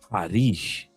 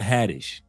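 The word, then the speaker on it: Haddish: And she says the pronunciation of her name is Harish, not Hadtish.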